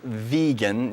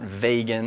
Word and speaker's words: vegan: So he wanted a nice short word, and he wanted it pronounced vegan, not vegan or whatever other ways people pronounce it.